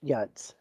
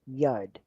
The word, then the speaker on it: Yod: Is Yods. And I know that a lot of people pronounce it Yod, but it's not pronounced Yod. It's Hebrew and it's pronounced Yud.